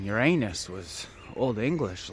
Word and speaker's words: Uranus: about the time that everybody started pronouncing uranus uranus sometimes i was here in uranus right about you hearing that uranus you're honest you're in us but like uranus by the